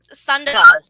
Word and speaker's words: Sandoval: Sandoval.